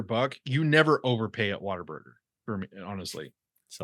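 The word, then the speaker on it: Whataburger: and Jared though have shared a lot of water Burgers like at 2 am when we have else stop saying Water Burger I won killing me that's what it's pronounced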